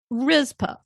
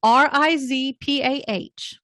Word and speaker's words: Rizpah: Rizpah, Rizpah.